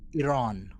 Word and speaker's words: Iran: actually they say it more like Iran, but Iran is how I would say it, but instead of Iran. But they roll the R actually, which is I'm not gonna overemphasize it either.